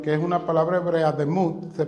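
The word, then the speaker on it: דמות: le prestamos atención que es una palabra hebrea demud se pronuncia que significa esa palabra tiene una raíz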